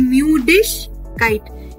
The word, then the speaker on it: Müdigkeit: Die Müdigkeit. Remember, IG will be ish.